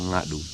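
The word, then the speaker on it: Ngadhu: dialect we call NAU to spell it n g a d h u to pronounce we we said and then this is what they call Nadu and then next one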